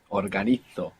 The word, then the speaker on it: organizo: I will just mention for anybody trying to keep up with the Spanish pronunciation that Z there is going to be pronounced th. Organizo in Spain.